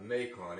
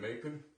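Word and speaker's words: Macoun: 1 Gala, 2 Red Delicious, 1 Ginger Gold, and I believe it's pronounced a Macon, M-A-C-O-U-N, Macon.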